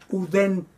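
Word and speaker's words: οὐδέν: La palabra uden, nada. Uden, escrito ouden.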